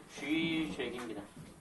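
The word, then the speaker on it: Žižek: 그래서 요거는 영어로 발음상으로 이게 JH에 가깝습니다. 그러니까 주의하는 발음입니다. 그래서 발음에 맞게 표기하자면은 쥐죄기입니다.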